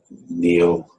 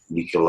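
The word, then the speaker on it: Nihil: Nicol obstat imprimatur. Some people may pronounce that Neil, but when you get that IHI in Latin, it's pronounced as a K, Nicol obstat, which basically means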